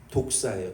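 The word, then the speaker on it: δόξα: 이 영광이라는 단어는 헬라어의 말씀의 발음이 독사예요.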